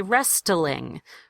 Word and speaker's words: wrestling: The W at the beginning is silent. That's just an R sound. And the T is also silent. You don't say wrestling.